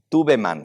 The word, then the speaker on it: Tubman: Y no lo van a creer. Tubeman se escribe, Tubman.